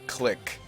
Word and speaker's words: clique: Clique is actually a French word. It's not click. Clique. But you can pronounce it click if you want to. You can pronounce it both ways.